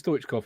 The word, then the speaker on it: Stoichkov: That I knew it was Stoichkov and not whatever else I could have pronounced there.